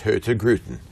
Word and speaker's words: Hurtigruten: It's spelled Hurtigruten. Yes. And in Oslo, it would be pronounced Hurtigruten. Uh-huh. But in Kristiansund, where we were on the West Coast, they have a different accent. And they drop the N and they drop the R.